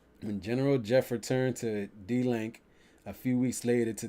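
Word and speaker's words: DLANC: los angeles neighborhood council d-l-a-n-g pro pronounced d-link would be willing to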